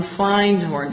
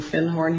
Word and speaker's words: Findhorn: And he said, I said, do you have anything on Findhorn? Because I'd found a book called The Magic of Findhorn. And he corrected my pronunciation. He said, do you mean Findhorn?